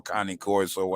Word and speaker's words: Cane Corso: Do I get a Cane Corso or Connie Corso, as some people like to pronounce it?